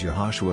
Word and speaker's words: Yehoshua: His Greek-speaking apostles were probably unable to pronounce his Hebrew name, which was Yehoshua, also pronounced as Yeshua.